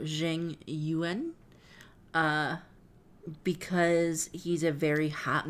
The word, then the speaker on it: Jing Yuan: Erica says, I went hard on grinding the game to get a 5-star character named Jingwan. Pronounced. Oh, Jing Yuan.